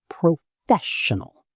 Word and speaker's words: professional: The stress is on the second part, professional.